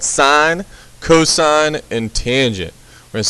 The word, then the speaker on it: cos: So cosine is abbreviated cos, but it's pronounced cosine.